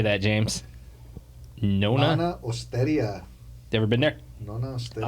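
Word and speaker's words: Nonna Osteria: Nona Osteria.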